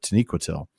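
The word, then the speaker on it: Taniquetil: The one that I I pronounced Taniquitil wrong for so long and it was because the audio book pronounced it that way with the the emphasis on the the penult as opposed to the antipenol.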